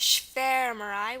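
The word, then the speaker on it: schwarmerei: still pronounced um like it does so it's pronounced sh marai with the short e sound and um it's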